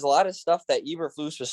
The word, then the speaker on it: Eberflus: bunch of videos to figure out how to pronounce it. Eberflus.